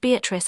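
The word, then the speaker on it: Beatrice: Note, Beatatrice, I use this word as it is, pronounced in the Italian as consisting of four syllables of which the third is a long one revisited with joy.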